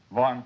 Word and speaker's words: Vahan: pronounced Von in Armenian, but it's Von in English. Oh.